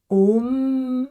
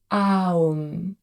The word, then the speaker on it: Om: Donc, on prononcerait soit Om avec un long M et un court O, soit parfois c'est prononcé Aum, donc A-U-M.